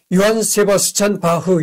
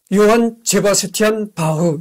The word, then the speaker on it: 요한 제바스티안 바흐: 그래서 요한 세바스찬 바흐 이렇게도 틀린 발음이 아니고 요한 세바스티안 바흐 이렇게도 틀린 발음이 아니다 이런 얘기입니다.